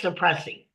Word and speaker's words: Cipressy: And it's pronounced suppressing just like it looks.